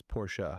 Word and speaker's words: Porsche: Two syllables. Yeah, you got it. It's Porsche. It is. It's not Porsche. It's if you ask the Germans.